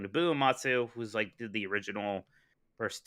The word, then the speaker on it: Nobuo Uematsu: Nobuo Uematsu, who's did the original first 10, really is great.